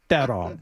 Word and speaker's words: Theron: She's from South Africa, and her name is pronounced Theron.